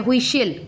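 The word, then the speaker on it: whistle: then आ गया हुईशिल, हुई, हुआ, W का प्रोनाउंसिएशन हो रहा है, हुई, WHI हुई, हुश, हुश, सिल, LE, टी का प्रोनाउंसिएशन नहीं हो रहा है, कैसल, कैशल, CAS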